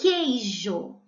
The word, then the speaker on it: queijo: sabe aquela de vocês o queijo eu não falo com o ei ju então eu não pronuncio por isso é dígrafo quesito eu não falo